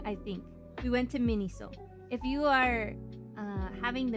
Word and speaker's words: Miniso: Miniso like miso, but mini.